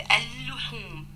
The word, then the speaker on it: اللحوم: يجي حد يقول لي ما احنا نطقنا اللام دي لام شمسية، أقول لك لا، أنا عندي اتنين لام، اللام الأصلية اللي في الكلمة اللي هي اللحوم والال الشمسية، أنا قلت اللحوم، نطقت اللام الأصلية، لكن اللام الشمسية ما نطقتهاش، والحرف مشدد، إذن هي الشمسية.